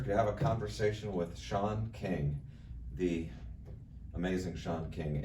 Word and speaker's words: Sean: It's spelled S-E-A-N, so they'd say, the teacher would read off the name, she'd say, King. Who's that? Yeah. That's Sean.